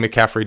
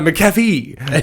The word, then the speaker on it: McAfee: I was saying McCaffrey just then, so I just butchered that. My apologies. John McAfee. I'm drinking a coffee as we say it. No, McAfee.